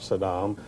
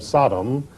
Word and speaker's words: Saddam: pronoun mispronounced his name he always called him Sodom uh as though he were trying to call him a sodomite I don't know but